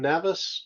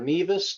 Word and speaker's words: Nevis: join us from Nevis live from Nevis or Nevis depending upon how you pronounce it to talk about